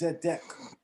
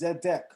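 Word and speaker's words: צדק: say this the hebrew word for righteousness is zedek the hebrew word for righteousness is zedek zeddek is spelled in biblical hebrew zade and then you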